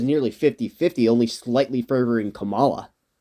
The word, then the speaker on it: Kamala: 50-50, only slightly favoring Kamala. Or Kamala, so I don't upset you with the mispronunciation. If you can pronounce Donald Trump's wife's name, you can pronounce Kamala. It's actually pretty easy to say Kamala.